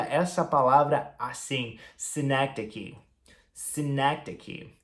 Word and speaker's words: synecdoche: A gente pronuncia essa palavra assim, synecdoche.